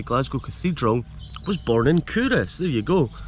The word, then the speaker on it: Culross: the royal baron of kurus pronounced kurus nestles in a hollow